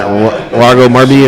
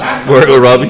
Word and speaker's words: Margot Robbie: Was it Margot Marby or whatever her name is? Margot Robbie. Margot Robbie. That's the way to pronounce that.